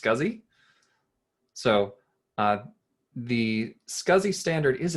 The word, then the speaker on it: SCSI: to talk about uh what you're calling scsi that's typically pronounced scuzzy so the scuzzy standard